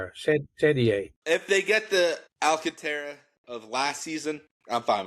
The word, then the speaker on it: Alcantara: If the Yankees get Sandy Alcantara or Anontra, however you say his name, it's not Alcantra. They're missing a vote when they do that. Fuckant shady. If they get the Alcantara of last season, I'm